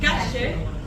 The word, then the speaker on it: calle: What we like to do is the Y and the double L sound. We pronounce it like a shit. So if I wanted to say chicken, I would say pollo. If I wanted to say street, I would say calle.